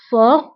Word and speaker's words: fort: هنا أيضا تي لا تنطق في آخر الكلمة fort.